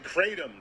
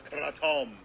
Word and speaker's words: kratom: I was saying kratom too. I didn't know it was kratom.